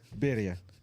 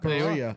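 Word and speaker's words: birria: Also, it's Beria. What? Like tacos. He's trying to say Bria tacos or beria. It's not Bria.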